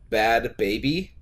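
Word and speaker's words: Bhad Bhabie: Apparently her name is Bad Baby, and it's spelled BHADBHABIE.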